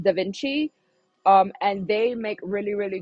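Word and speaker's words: DaVinci: It's pronounced Da Vinci.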